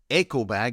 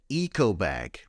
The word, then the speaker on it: eco bag: Another name is an eco bag, not pronounced eco bag like in Japan, an eco bag.